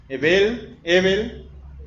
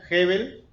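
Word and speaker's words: הבל: Ebel, o algunos lo pronuncian Hebel.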